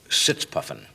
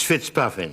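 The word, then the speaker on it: Fitzpuffin: um British agent Leslie sitz puuffin actually it's it's Fitz puffing sit sorry it's mispronounced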